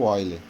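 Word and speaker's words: Euler: Talvez o primeiro grande nome que a gente viu, né, eu vou falar de um jeito, mas a escrita é outra, foi o Oile, né, que se escreve Eule, tá?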